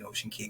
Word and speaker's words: Ocean Cay: But as far as I know, the correct pronunciation is Key, kind of like Key West, that type of thing, even though it's spelled C-A-Y.